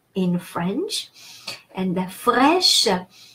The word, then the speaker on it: fraîche: And the fraîche, A-I in French is pronounced e, like in the word egg, like the English word egg.